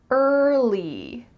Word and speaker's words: early: Don't add another sound in there. I often hear English learners say early, early, but that in the middle isn't natural.